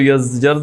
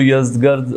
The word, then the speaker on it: یزدگرد: یزدگرد یا یزجرد, اگر عربی میں آپ اس کو تلفظ کریں تو یزجرد ہے چونکہ گاف نہیں ہے, اور اگر آپ اس کو فارسی میں کریں گے تو یزدگرد اس وقت بادشاہ تھا اس سلطنت کا.